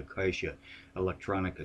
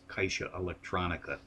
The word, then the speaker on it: Caixa Electronica: Eastern post time for the kaisha Electronica Stakes at the seven furong Sprint on aqualu